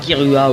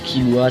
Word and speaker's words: Killua: On voit un ami de Jin qui affronte Gon et son équipe avec Hisoka, Kirua ou Killua, ça dépend de ta prononciation.